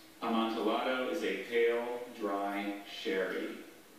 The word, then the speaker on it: amontillado: a pretty consistent language double consonants are except for what you just saw the double l and when you hear those alternate pronunciations think about that tortilla and quesadilla except for flotilla or armadillo at that time you heard all three variations and he was able